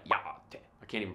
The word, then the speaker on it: yá'át'ééh: tones, ish-ah versus ish-ah, and glottal stops in words like ya-ah-te. I can't even pronounce that right. Ya-ah-te.